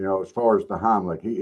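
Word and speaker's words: Heimlich: I don't think, you know, as far as the Heimlick, he he pronounces it wrong. He doesn't call it the Heimlick. He calls it the honey lick, and he ain't got it right yet.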